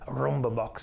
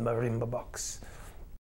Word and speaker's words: marimba box: the bass section and this mistake sometimes pronounced as the rumba box but it's really proper term is the marimba box well i play the